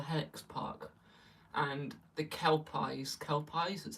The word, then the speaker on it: Kelpies: Kelpies, that's how you say it.